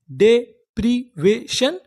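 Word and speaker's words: deprivation: पढ़ते थे शन तो पूरी मीनिंग क्या बनी डेप्रवेशन डेप्रिवेशन डेप्रिवेशन डेप्रिवेशन का मतलब होता है हानि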